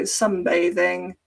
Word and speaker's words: sunbathing: She is sunbathing, and it looks like bathing, but it's pronounced bathe. So sunbathing.